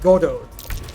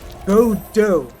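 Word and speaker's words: Godot: walking in I'm sorry not Gordo go do yeah this is how you pronounce apparently all right um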